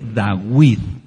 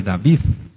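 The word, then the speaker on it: דוד: quién le habla no la letra b sonaba como w por eso el melj dawid es el rey dawid no es el rey David lei después ya se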